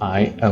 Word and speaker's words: 挨: the second meaning of I when you pronounce this I uh the second tone it has three meanings